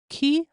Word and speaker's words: qui: so key Qi is just like the key you would open a door with with key and that